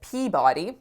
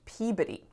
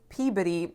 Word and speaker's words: Peabody: of ours who's from massachusetts and i said peabody just like my husband instructed me to and our friend said actually vicky it's pronounced peabody and i was like oh he led me